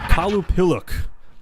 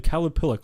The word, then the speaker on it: Qalupalik: This one, I believe, is pronounced Qalupalik, depending on how it's spelled. The Qalupalik.